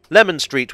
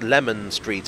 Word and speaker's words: Leman Street: the more citrusy way I'm inclined to say that Lemon Street is probably the more historically correct pronunciation but place names evolve